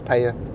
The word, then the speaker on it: Peyia: if you're coming to the payer area which is paaya Coral Bay St George